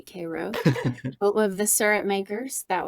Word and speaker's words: Cairo: town called kro Georgia spelled like Cairo Egypt but they definitely say Koo of the surup makers